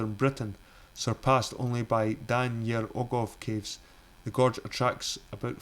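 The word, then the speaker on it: Dan yr Ogof: Dan Yer Ogov, Welsh pronunciation Dan Yer Ogov, located at the National Show Caves Centre for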